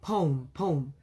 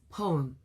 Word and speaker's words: poem: So, I would say pom. And then later I found out, ah this is supposed to be a two syllable word.